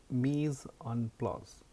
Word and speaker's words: Mise-en-place: It's called Mise-en-place. So I'm working on my French pronunciation, but it's to make it simple.